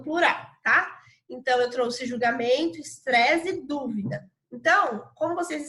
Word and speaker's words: julgamento: julgamento percebam qual é a palavra que a sílaba que a gente dá mais entonação quando fala então repito lá julgamento não parece que tem um acento doer julgamento